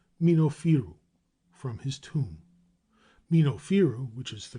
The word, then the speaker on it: Minofiru: Minofiru, which is the correct pronunciation and the origin of Memphis, probably signified